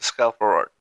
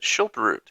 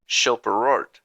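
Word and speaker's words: Schilperoort: So my dad always pronounced it Schilperud, and we always pronounced it Schilperud because of that. There is a second R that we just make silent, and so it makes it easier for people to pronounce.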